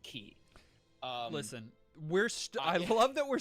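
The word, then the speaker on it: χ: In the game, they use the subtitles and they put this X there, but they say key. They pronounce it key.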